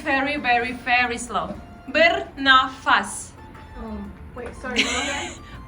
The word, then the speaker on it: bernafas: Bernafas. Bernafas. Like burn your face.